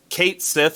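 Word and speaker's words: Cait Sith: but i'm pretty sure it's kate sith is the correct pronunciation and it's being spelled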